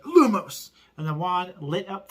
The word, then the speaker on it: Lumos: Lumos, pronounced Lumos, is possibly derived from the Latin word lumen, which simply means light.